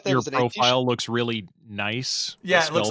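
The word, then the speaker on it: gneiss: I thought that your was an profile looks really nice. Yeah, it looks like nice. The GNEIS. Or I always called it Genis, but yeah, it's nice.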